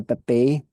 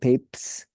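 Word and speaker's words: Papez: people call it the Pepe circuit some people call it the papes circuit okay so let's describe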